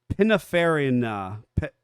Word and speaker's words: Pininfarina: So River Simple is the one I could totally pronounce. Pininfarina.